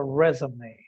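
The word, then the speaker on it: résumé: Remember that the word resume is a French word. Recordemos que la palabra Resume es una palabra francesa, por eso lleva lleva una tilde. Una de las muy pocas palabras que llevan tildes en inglés y se pronuncia resume.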